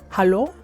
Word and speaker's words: hallo: It's just hallo. So we just swap the E with the A and it's hallo.